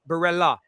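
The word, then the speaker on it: Barella: So it's Berella. Berella, yeah. You know what's mad?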